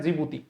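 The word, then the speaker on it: Djibouti: डी से शुरू होती है। डी जे आई इस तरीके से है। बोलते क्या है? जिबूती जिब्राल्टर जलसंध अभी मैंने आप लोगों को लोकेशन बता दी थी।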